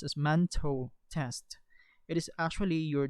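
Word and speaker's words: Mantoux: a n e o u x it is pronounced as manto test it is actually your tuberculin uh test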